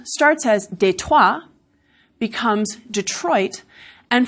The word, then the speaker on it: Detroit: des des tois becomes Detroit and for a good number of speakers in Michigan the stress has now moved to the first syllable and it's Detroit we see this english'